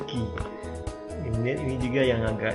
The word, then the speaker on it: qui: Kemudian ini juga u-nya nggak dibunyikan, ki.